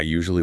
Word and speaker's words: usually: Let us take a moment to pronounce usually slowly, making sure we hit all the sounds. Usually, it has three distinct syllables.